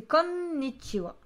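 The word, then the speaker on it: こんにちは: Et après, tu écris soit ha à la fin, soit wa. Ça dépend comment tu le prononces. Le wa, c'est parce que ça se prononce wa, mais ça s'écrit ha.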